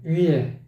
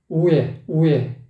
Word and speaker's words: 위에: 입술을 부지런히 움직여줘야 돼. 위에, 우에, 아니고 위에.